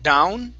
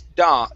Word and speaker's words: dawn: Instead of down, dow, it's dawn. Dawn.